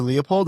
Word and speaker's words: Leupold: My name is Leopold.